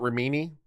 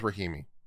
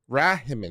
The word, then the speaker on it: Rahimi: It's not Rimini. Ramini. If you want Ramini, all right, Ramini, Ramini. I'm not sure. Rahimi. We'll go with Rahimi.